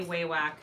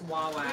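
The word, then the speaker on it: Wawak: And you say it correctly, Wawack. Wawack. I have a hard time remembering how it said Wawack. I always say Waywack. It's Wawack.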